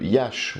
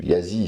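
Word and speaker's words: Iași: de Florence, le concile de Yash, ou Yazi selon les prononciations, de 1642, contre les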